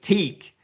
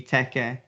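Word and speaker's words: Teke: i can see if if you're pronouncing it in english you're probably gonna think teak but you know phonetically and with the hiragana in japanese it would be teca so yeah anyway t-e-k-e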